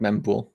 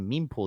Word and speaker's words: mempool: Is it mempool or mempool? Oh, you're correct, mempool. Yeah, okay. All right, okay. I've heard somebody say meme pool the other day.